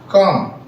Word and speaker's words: calm: CALM काम। L silent है जो बच्चों, तो ये हमने K बनाया और ये M, ये हमारा काम बन गया, काम।